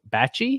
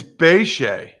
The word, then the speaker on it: Bachie: bengals claiming linebacker joe bachie is that how we're pronouncing i think it's beijing beije b-a-c-h-i-e again joe sorry for